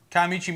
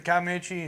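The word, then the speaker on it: Kiamichi: I've always pronounced it Kaimichi. I always pronounce Kaimichi. More of a sh sound.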